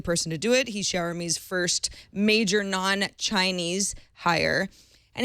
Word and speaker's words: Xiaomi: me he also has a really great little phonetic way for all of us who are not exactly sure how to pronounce it shower me he says he wants